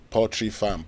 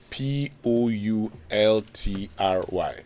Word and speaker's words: poultry: in the discussion and everybody says porry farm porry farm porry farm what is the right pronunciation p o u l t r y raymon you want to give it a try poultry fantastic so for all of you